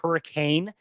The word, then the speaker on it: Hurricane: uh Zion is called Hurricane even though it's spelled hurricane. It the way you actually say it is hurricane because one of the Mormon prophets said it really fast like that.